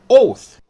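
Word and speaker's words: אוֹת: Strong's dictionary its word number 226 it is pronounced oath it is a signal a flag beacon monument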